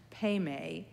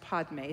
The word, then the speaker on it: Padme: between, Mani and Peme, which can be also pronounced Padme, so those of you who are wondering about whether it is Peme or Padme, you are both right. Padme is the Sanskrit pronunciation, and Peme is the Tibetan pronunciation.